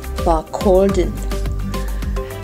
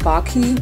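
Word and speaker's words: Barcaldine: Barkaldine. Angeblich spricht man das so aus. Na gut. Also auch Barkaldine, auch Barki, wie die Einheimischen das nennen, ist sehr leer,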